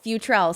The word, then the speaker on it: Futrell: i always bought your last name good future futrel see i said it right 49 000 times